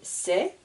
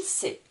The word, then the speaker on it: sait: a I se prononcer la dernière lettre qui est une consonne ne se prononce pas la lettre muette donc je ne prononce pas le S ni le T c'est à chaque fois